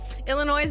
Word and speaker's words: Illinois: Illinois Illinois Illinois Illinois I know the S is silent Illinois but with an S